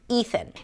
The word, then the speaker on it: Ethan: Just make sure that you stick the tongue out for the TH and you relax it, so the air actually comes out as you pronounce the TH. Ethan.